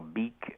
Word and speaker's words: Bic: Yeah, it was this French guy, Marcel Bic, and then somebody said, well, take the H off the end of your name and you get Bic, and it's something that can be pronounced in any language.